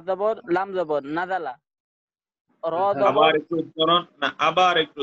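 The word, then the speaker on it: نَزَلَ: জবর নাজালা নাজালা নাজালা নাজালা, রাল হবে না, উচ্চারণটা হলো ঝা ঝা ঝুল ঝিলা ঝা, নাজালা নাজালা নাজালা নাজালা শব্দ তো, এগুলো এটা কোরআনের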